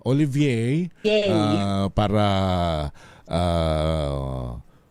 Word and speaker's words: Olivier: Ano ho ah dapat tama yung pronunciation natin ma'am Yat. Ah Olivier Olivier ah para ah o kasi yung mga baboy nila roon ay naka-cartier.